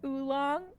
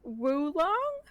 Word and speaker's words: oolong: Did you know that oolong is actually pronounced woolong?